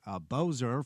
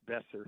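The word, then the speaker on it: Boeser: Uh Brock, I believe it's Bozer from Vancouver, right? Besser. It's pronounced Besser.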